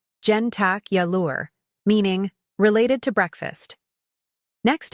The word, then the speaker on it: jentacular: you were moving wiins word number six jentacular pronunciation gentac yure meaning related to breakfast next time someone asks